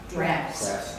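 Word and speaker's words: Draughts: by, I guess, Craft Drought. How do you say that? Drafts. Drafts.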